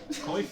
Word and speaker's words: Coif: Coif, is that how it's pronounced? Oh, call it quaff. interesting. Quaff. I think it's a quaff.